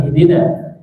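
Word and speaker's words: اهدنا: Sekarang ihdina. Ada i, jangan biasanya ini dibaca ihdina wa ihdina. Hamzah harus jelas, ya, hamzah harus jelas. Ihdina. Ha besar saat sukun mengalir suaranya. Ihdina. Jangan masuk ke dada.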